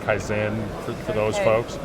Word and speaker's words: Kyzen: continuous improvement it's pronounced kaizen for those folks right uh as americans we tend to emphasize the first syllable but uh so this